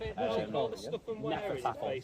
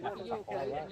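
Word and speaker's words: Hnefatafl: Nefertafel. It's spelled with a H at the beginning.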